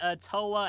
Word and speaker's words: Towa: Tawa is unquestionably the cutest, but would you say Kirio, Picoro, Botan, or Corone has the most infectious laugh?